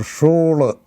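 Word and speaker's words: Schule: is pronounced for example shul shul is a in school so it is pronounced as shul school so I see a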